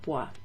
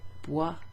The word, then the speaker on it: bois: And then we have neige and neige, bois rhyming with froid. So it's got that O-I, wa sound.